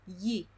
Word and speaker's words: gli: This trick gives you an approximate, very close variation of the sound y.